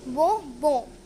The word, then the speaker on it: bonbon: Bonbon. N is pronounced in this, which means bonbon.